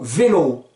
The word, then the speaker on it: vélo: vélo, ça s'écrit V-E-L-O, mais ce O a un bel accent. C'est pour vous dire, méfie, l'accent tonique tombe sur le O. Donc ça va pas donner lou vélo, mais lou vélo.